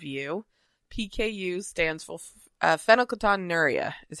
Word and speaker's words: phenylketonuria: And for those who don't know, which is probably almost every single one of you, PKU stands for uh fenocaton nura is how it's pronounced.